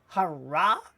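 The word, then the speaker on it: הרע: And we see the ayin is in white, which means we don't pronounce it. So it is hara, meaning the evil, because ra means evil.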